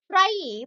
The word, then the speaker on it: trie: A try pronounced as try and followed e or